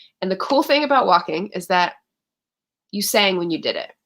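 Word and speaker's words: waulking: had the last um walking session i say it like with an l w-a-u-l-k-i-n-g walking is the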